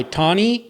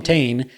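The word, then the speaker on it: Tane: T or Tony yeah it started with Tony but people would be like Tony and I'm like no ton yeah but it's spelled t a n e so they' see the spelling and call him Tain he would tell people to call him T and some people would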